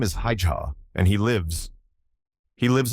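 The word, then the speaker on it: Haigha: His name is Hija. He pronounced it so as to rhyme with mayor.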